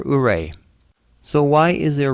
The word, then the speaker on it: Ouray: And yes, it's pronounced Ouray, like hooray for Ouray.